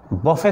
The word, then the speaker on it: buffet: हैं, उसको बोलते हैं बफे system, बट बफे system नहीं पढ़ेंगे, उसको पढ़ेंगे बुफे सिस्टम। स्पेलिंग है BUFFET बट पढ़ेंगे BOOFAY, बुफे।